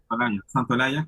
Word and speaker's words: Santaolalla: Santaolalla? Yaya? Is that how you say it? Santolaya.